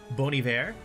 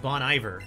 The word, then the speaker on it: Bon Iver: that's like uh like there's an artist by the name of boney there and I always called them bon iver because I live in Texas and now that I